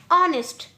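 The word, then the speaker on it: honest: अब यहाँ हमारा फर्स्ट लेटर एच है यानी कि कॉन्सोनेंट, लेकिन साउंड हमें क्या मिल रहा है, अ। तो यहाँ भी एच साइलेंट है, ओ का साउंड फर्स्ट आ रहा है, तो हमारे लिए यहाँ भी एन लगेगा।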